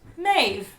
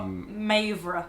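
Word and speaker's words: Méabh: And the last one is Mauve, which is pronounced Maeve. Not Maeve. No. Maeve. Or Mavra, like manoeuvre.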